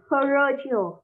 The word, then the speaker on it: parochial: Parochial vẫn là âm đầu tiên nhắc, cứ cái âm như thế này đọc là âm ơ, giống như tiếng Việt ơ.